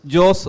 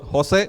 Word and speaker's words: Jose: You can pronounce Jos or Jose, both are right.